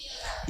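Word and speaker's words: heir: लिखा ईयर क्या लिखा ईयर ईयर का मतलब होता है उत्तराधिकारी सक्सेसर जिसको कहते हैं ईयर में एच साइलेंट है सिर्फ इसको ईयर को पढ़ा जाता है क्या लिखेंगे एनयर एन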